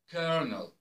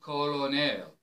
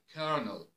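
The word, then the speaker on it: colonel: is a bit strange kernel it's it's not colonal it's kernel kernel indicted indicted comfortable not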